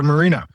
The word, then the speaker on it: Moreno: Yes, it's Marino. Mareno. Oh, you pronounce it Marino.